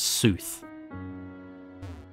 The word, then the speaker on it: soothsayer: back to the soothesayer I keep thinking it's saying sooth like yeah as if you're pronouncing tooth but you pronounce it as sooth okay let's make